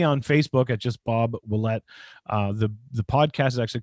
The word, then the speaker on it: Willette: Willette spelled like Gillette, but with a W.